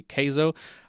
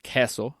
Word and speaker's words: queso: People in Texas say queso. I really don't like to say queso because I'm from Costa Rica and I know that it's pronounced queso, so I'm gonna say queso.